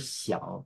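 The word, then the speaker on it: 響: So it's pronounced as xiang, the word home. And here is a word that has the same pronunciation with a slight slightly different intonation. It's the word xiang, meaning resonance.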